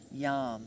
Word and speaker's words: yam: single syllable mantra is yam y am and i like to remember that yam with the y yes yes with the y yam with a y yes to opening and